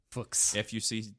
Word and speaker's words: Fuchs: And pronounced, it's even funnier. Fuchs? Fuchs.